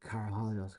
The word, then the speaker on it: Karahalios: car to him like car hollyo's car let's say it properly action you only got one time well done no it's a it's a it's a phonetically correct last name but it's it's not